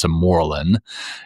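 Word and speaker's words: Sermorelin: I'm doing testosterone, and I got corrected on how to pronounce this other one. It's Simorelin, is this medicine that you inject, and it helps to naturally release human growth hormone.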